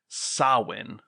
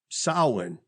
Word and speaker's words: Samhain: So what I found was it's pronounced Samhain. Samhain. Okay. It's one of those like weird Celtic Gaelic words.